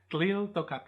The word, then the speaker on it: Tliltocatl: But most of us in English will probably overpronounce that L because it's there. So Nahuatl, Tliltocatl.